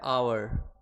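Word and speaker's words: hour: Okay, तो जो आवर word है इसका उच्चारण हम लोग देखेंगे, क्या आ रहा है, आवर। कहां से शुरू हो रहा है, आ से।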